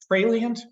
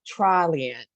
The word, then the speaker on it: Traliant: The TRP University thing, partnering with, and Anna, tell me if I'm mispronouncing it, Tralient, the vendor. They actually call themselves Traliant.